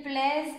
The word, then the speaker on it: plaisent: Ici, il fallait le prononcer parce qu'on a la voyelle, le E. Ils plaisent à leurs enfants. Voilà. Normalement, on ne les prononce pas. Mais si on a la voyelle qui arrive juste derrière, ça se prononce parce que ça se met ensemble, ça se relie.